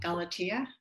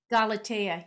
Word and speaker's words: Galatea: Is it Galatia? Galatea, yeah. Galatea.